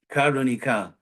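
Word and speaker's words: कारुणिक: Karunika. See that? In Krishna West, you get free Sanskrit pronunciation help.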